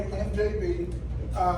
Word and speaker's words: MJB: So, my friends call me MJB. It is easy to remember. It rhymes with BBC.